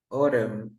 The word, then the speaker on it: autumn: have like M tandem Autumn for example we never pronounce the N here we say autumn um or in this word